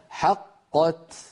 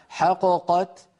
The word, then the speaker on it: حقت: لو قلقلت الأولى لانفك الإدغام، يعني لو قلنا حققت حققت فانفك الإدغام وصار كأننا نطقنا بقافين منفكتين، وهذا لا يصح أبدا. لابد أن نقول حقت.